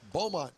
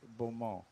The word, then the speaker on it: Beaumont: Don't pronounce it Beaumont. Beaumont. It's Beaumont. Beaumont. Yeah, you kind of say it out of the side of your mouth.